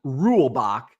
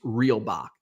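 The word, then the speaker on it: Reulbach: real Bach I always I've always called him rule Bach but I did see a pronunciation and I've been pronouncing it wrong all this time I think it's real Bach Ed reelbach uh or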